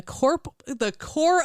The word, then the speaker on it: Corps: And then after the war, she enrolled in the Corps of the Invalids. I thought you were going to say the corpse of the I was Invalids. going to say corpse because that's how it's spelled.